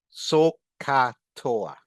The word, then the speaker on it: SOH CAH TOA: We write SOH and we pronounce it so. For cosine, C, A, and H. Pronounce CAH. For tangent, T, O, and A. Pronounce TOA. Put together, SOH CAH TOA.